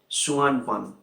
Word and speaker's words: Suanpan: The Chinese device known as the Suanpan. It is I will spell it out for you.